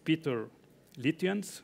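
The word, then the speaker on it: Pieter Litjens: mazzani you don't have to apologize because you pronounced it correctly and what nobody is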